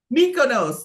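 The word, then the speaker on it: Mykonos: chat like I'm going to go and I'm meus I wish like someone would come off a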